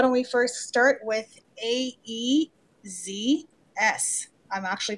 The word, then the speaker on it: AEZS: well so why don't we first start with a e-z s I'm actually pronouncing it properly for Jim today because that's